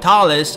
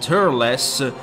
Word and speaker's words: Turles: Between Thales and Turles, I think the latter pronunciation is the more suitable. Just mute the R and replace the T with a D, and there you have the actual pronunciation, dullest.